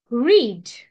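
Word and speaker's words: read: रीड रेड will रीड आता इथे बघा पास्ट मध्ये आपण याला रेड म्हटलं आहे पण स्पेलिंग मात्र सेम आहे सो रीडचा हे वैशिष्ट्य आहे की रीड पास्ट फॉर्म मध्ये लिहिताना आर इ ए डी रीडच लिहितात फक्त वाचताना बोलताना त्याला रेड असं प्रोनाऊन्स करायचं आहे आय रीड आय रेड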